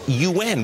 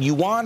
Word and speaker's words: yuan: actually learned how to finally pronounce the Chinese currency it's un we've been talking Yuan for all these years and